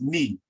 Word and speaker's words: nee: The word for me is ni, right? Ni, as in my knee, but it's spelled N-E-E.